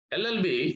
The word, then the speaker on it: LLB: So LLB starts with or begins with the sound of vowel sound of A.